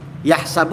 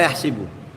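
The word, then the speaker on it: يَحْسَبُ: Yahsabu apa? Yahsibu. Yahsabu anna maahu akhlada. Tapi dalam hal yang lain ada yang membaca yahsibu. Salah enggak? Salah lah.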